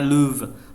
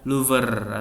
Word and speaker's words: Louvre: Nah, ini bahasa Prancis dibacanya Louvre, bukan Louvre atau Louvre ya, Louvre aja dibaca.